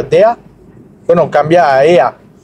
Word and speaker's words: der: Aunque se pronuncia, como ya vimos, la E junto con la R, se pronuncia, la E cambia a A, se pronuncia DEA. Bueno, cambia a EA. DEA.